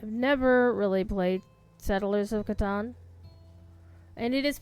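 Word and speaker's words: Catan: It's pronounced katan. And the reason it's pronounced katan is because umlouse tuber, the gentleman who uh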